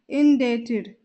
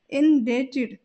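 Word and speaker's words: indebted: में कहा जाता है इन डेटेड इन डेटेड यहां पर बी साइलेंट रहेगा और हम इसका प्रोनंसिएशन इस प्रकार करेंगे इन डेटेड यानी कि बी को हम नहीं बोलेंगे भगदड़ भगदड़ को इंग्लिश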